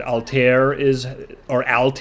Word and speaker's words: Altair: not actually pronounced Altaïr. I was surprised to find out that Altair is how it's pronounced in English, is the star Altair, which is named after the Arabic phrase Anisr Altaïr, which means, what the heck, I think it just means flying eagle.